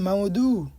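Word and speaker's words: موضوع: আর এখানে লেখা আছে মাওদু তো আপনারা মাওদু বলবেন আপনারা বলবেন যে মাওদু আইনের একটা উচ্চারণ আছে এটা কিন্তু একদম কম হবে তো এর অর্থ হচ্ছে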